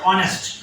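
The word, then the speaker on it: honest: এখন দেখো এখানে উচ্চারণটা কিন্তু হনেস্ট না, এটা উচ্চারণটা অনেস্ট।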